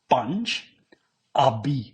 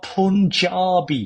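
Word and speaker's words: Panjabi: So, Panj five, Panj abi river Panj abi not Punjabi.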